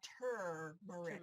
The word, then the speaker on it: turmeric: By the way, the correct pronunciation, everybody write this down phonetically if you have to. The right pronunciation for this root is called turmeric, not turmeric. Everybody says turmeric or turmeric. Okay, Turmeric. But put that R in there, please.